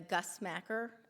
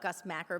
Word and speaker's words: Gus Macker: They were participating in the Gus Macker. I call it Gus Macker, but apparently it's Gus Macker. I'm not saying it correctly.